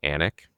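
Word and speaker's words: Alnwick: studied, which is called Anch, spelled A L N W I C K. It's a real study in how the Brits pronounce things and that L's are typically silent.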